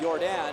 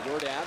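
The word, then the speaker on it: Jordán: touched it up as your dad it's his name is spelled like Michael Jordan but it's not jump man it's your dad the defense before the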